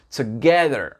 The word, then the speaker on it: together: Donc ici, TO, ici, ça ne se dit pas tout, c'est t, t. C'est vraiment court dans l'anglais américain. D'accord? T. Et là, l'accent tonique, il va être sur la 2e syllabe. D'accord? Donc, je vais vous mettre une petite flèche ici pour vous dire que l'intonation, elle monte. Together.